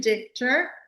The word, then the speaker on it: Dichter: And our special guest today is Dar. Do I pronounce it right? Because I use it as a German word.